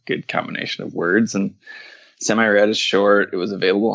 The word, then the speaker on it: Semi-Rad: Semi-rad or semi-rad? Whatever you want. I say semi. I don't know if that's correct. That's how I read it in my head.